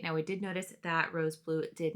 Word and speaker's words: R.o.S.E BLUE: We do know that Rose Blue.